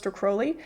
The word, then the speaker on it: Crowley: I see people make which is how you pronounced his name which is Alis Crowley um obviously that's gotten way more difficult since